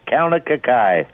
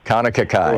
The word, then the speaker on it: Kaunakakai: It is Kaunakakai. Thank you, Kaunakakai.